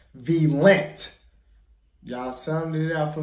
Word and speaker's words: Valiant: Y'all say it's pronounced Valiant.